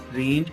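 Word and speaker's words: range: के लिए मैं कहूंगा बिगनिंग में आर is pronounced, but differently from Urdu. Urdu से डिफरेंट प्रोनाउंस करते हैं। जैसे मैंने आपको एग्जांपल दे दी, रेंज, रेंज, रेंज, रेंज। लग ऐसा रहा है जैसे हम अरेंज कह रहे हैं, लेकिन अरेंज और रेंज में फर्क है।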